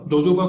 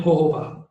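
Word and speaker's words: jojoba: जोजोबा को वैसे pronounce करते हैं होहोबा.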